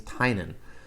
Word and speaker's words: Tynion: and he piece he said his name out loud and it was James Tainan so I'm gonna try